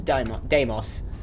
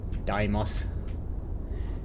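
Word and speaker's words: Deimos: yards can I have a look at this damos I know how to I know how to pronounce that word Daimos ah all right connected and let's hail it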